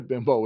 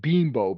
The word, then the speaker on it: Bimbo: funny about that that is basically what a bimbo is yeah um now I what I did